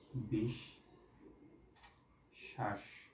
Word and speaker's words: বিশ্বাস: দুইবার উচ্চারণ হয় তাহলে এটার উচ্চারণটা হবে কি বিষ শ্বাস বিষ শ্বাস তাহলে বিষ উচ্চারণকে আমাকে